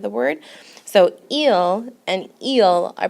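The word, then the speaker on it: ils: way it works and you do not pronounce the S at the end remember s's are not pronounced at the end of the word so eel and eel are pronounced the same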